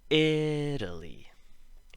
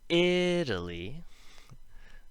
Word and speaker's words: Italy: So if we look at Italy, the syllable before is emphasized, and the syllable after, ul, isn't.